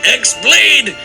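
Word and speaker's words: χ-blade: yeah he means the x-blade it's just pronounced like keyblade even though it's just one keyblade ah the series is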